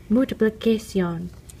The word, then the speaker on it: multiplicación: In Spanish, it's pronounced multiplicación.